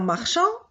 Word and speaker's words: marchand: Dans marchand, c'est le D.